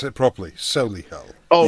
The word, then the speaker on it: Solihull: You have to pronounce it properly. Solihull. Oh, Solihull, right.